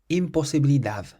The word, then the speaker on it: imposibilidad: Well, it ends in a D, which isn't a vowel or an S or an N, so we stress the last syllable. Imposibilidad. Imposibilidad. So it's the dav part at the end that gets stressed.